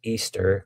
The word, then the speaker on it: Ishtar: There is also the mention of Ishtar, which is pronounced Easter, from which the holiday